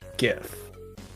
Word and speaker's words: GIF: up pronunciation okay if is pronounced with a hard G not J yeah it's not J if it's GIF well everybody knows that